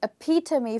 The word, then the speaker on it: epitome: in the end, and it's almost pronounced like to me, okay? So epitome for you, which means a perfect example.